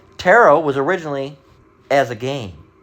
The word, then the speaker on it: tarot: It's pronounced tarot, but it has a t.